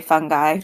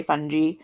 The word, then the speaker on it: fungi: and fungi or fungi are decomposers you can pronounce it either way i usually say fungi but a lot of people say fungi um but sometimes i have that south jersey